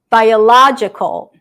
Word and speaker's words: biological: Biological, biological, biological. 5 syllables, okay? 5 syllables, 5 vowel sounds.